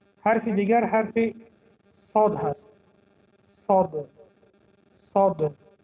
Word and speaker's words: صاد: این حرف در الفبای تاجیکی نیست، برای همین برای تلفظ کردن قفای زبان را برداشتن در کار و سری زبان را در دندانهای پایانی میگذاریم، در دندانهای پایانی و قفای زبان را میبنداریم.